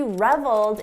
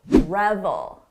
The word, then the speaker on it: revel: Don't confuse the pronunciation with the very common word reveal. We're talking about revel, revel, reveal, revel. Notice the difference in the vowel sound. This is a short sound, revel. Long sound, reveal.